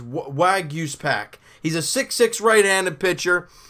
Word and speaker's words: Waguespack: Waguespack? It's pack at the end, but it's Waguespack.